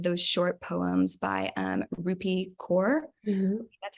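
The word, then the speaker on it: Rupi Kaur: are some of those short poems by um rupee core that's how we pronounce it and um i know she has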